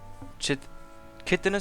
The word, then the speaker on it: chitinous: We got carpus and chitinous shells. Chitinous shells. That's the way it's pronounced.